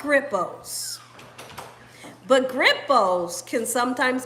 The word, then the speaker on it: Grippos: they're they can be real spicy you said grip who so Grippos is spelled g-r-i-p-p-o-s -g-r-i-p-p-o-s gripples you you gotta know